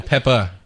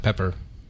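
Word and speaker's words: Pepa: Salt and Pepper is pretty, Peppa. Not Pepper. I said Peppa.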